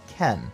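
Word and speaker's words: 剣: They are spelled with different kanji though, but both are pronounced Ken.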